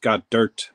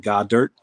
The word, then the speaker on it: Goddard: It's pronounced got dirt, basically. Yeah, select has some beautiful die cuts, man. Beautiful die cuts. Or like God dirt.